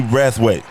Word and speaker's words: Brathwaite: Wrathweight.